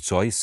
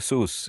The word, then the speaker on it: Seuss: of course apparently he everyone says Dr Seuss is supposed to be correct but he pronounced his own name so and he said zo is acceptable thereby implying sus is not acceptable so I shall attempt to say so if I remember